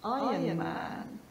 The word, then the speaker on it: Iron Man: How do you pronounce this famous character? Iron Man. It's Iron Man. So we have a silent R and this object is an iron.